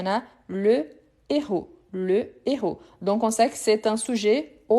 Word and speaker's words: héros: Mais ici, c'est un H aspiré. Quelle est la différence? On ne fait pas la liaison. Donc, je dis le héros et pas l'héros.